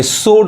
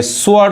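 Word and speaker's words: sword: है बी नहीं पढ़ाए यहां देखिए सोट पढ़ेंगे स्वर्ड गलत हो जाएगा यहां पे डब्लू साइलेंट है और इस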